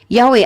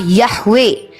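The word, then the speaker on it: Yahweh: sebagai pencipta manusia pertama salah satu rekonstruksi dari tetagramaton yodhevave adalah yahwe pengucapan ini dikenal luas karena sebagian besar menganggap bahwa pengucapan ini adalah pengucapan asli namun tidak ada bukti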